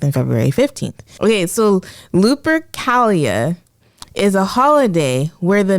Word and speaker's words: Lupercalia: say the word, so I apologize, but it's Lupercalia, Lupercalia, which is a holiday that celebrates fertility. It was thought to have been celebrated between February 13th and February 15th. Okay, so Lupercalia is a holiday where the men would strip